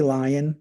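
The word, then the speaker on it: Li-ion: I say lion, just like the beast in the forest.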